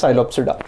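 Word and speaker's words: Psilopsida: as you can absorb P is silent that is psyops adduct the next class is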